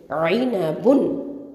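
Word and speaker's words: عِنَبٌ: ஐனபுன். ஐன் கெசரா ஐ, noon ஃபத்ஹான ஐன, ப தொம்மத்தைன் புன், ஐனபுன். Okay, ஐனபுன். ஐன் நடுத்தொண்டையிலேருந்து உச்சரிக்கணும், ஐனபுன், சரியா?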